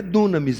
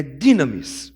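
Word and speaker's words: δύναμις: Não é dunamis, irmão, é dynamis, ok? Dunamis é o movimento da galera que faz música, aí bacana tal, mas não tem nada a ver com essa palavra aqui, porque está sendo pronunciado de forma errada.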